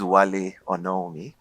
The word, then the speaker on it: Wale Onawunmi: So my name is Wale Onawunmi, right? So that's the pronunciation.